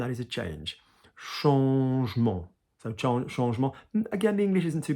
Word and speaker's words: changement: So changement.